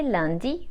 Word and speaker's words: lundis: have to use les lundis or tous les lundis and add a silent S at the end of the days of the week, which translate as every Monday.